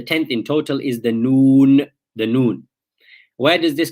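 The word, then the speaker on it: نون: So the upper teeth, the front teeth, the gums behind them, what we call the litha, your noon comes in contact with that when you pronounce, your tongue, comes in contact with that when you pronounce the noon. So you say noon, and this is the makhraj of the noon now.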